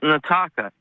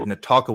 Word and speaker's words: Nataka: Yeah, and it's pronounced Nataka. Nataka. Okay, I had a screener note that said Natalka with an L, but Nataka, I will remember that.